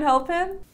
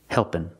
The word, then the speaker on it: helping: you're still hungry do you want a second helpen I cannot say a second helpen helping if I use the verb in the continuous